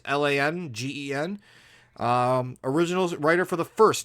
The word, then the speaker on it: Langen: I don't know how to pronounce it. Sorry, it's Langen.